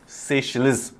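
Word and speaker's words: Seychelles: जो ये बड़ा कॉम्प्लेक्स नाम है सेशेल्स, इसको अगर आपको प्रोनाउंस करना है तो इसको आप ऐसे कर सकते हैं, सेशेल्स, इस देश का अगर जो सही प्रोनाउंसिएशन है।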